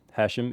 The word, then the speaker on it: Hashim: I'm Australian-born Lebanese, so Hashim is an Arabic name. Hashim is the more Lebanese pronunciation.